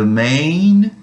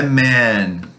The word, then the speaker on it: main: The main information. Lembrando que essa palavra main, ela é pronunciada com i nasal. Main. Main, não é man, porque aí é outra palavra, né? Então é main.